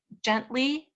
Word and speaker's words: gently: Gently, he was saying the hard G sound. So with some instruction there, he can understand that the G makes a soft sound when it's followed by an E, an I, or a Y.